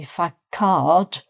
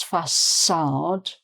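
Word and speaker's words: façade: Um is a French um thing uh to make the C sound like an S because if it wasn't there it would be fard but it's fad.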